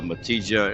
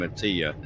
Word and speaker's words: Matija: So it's a hard sound, but I know in Spanish and some European or across the pond over there, I know it's pronounced like a Y sound, like a ya.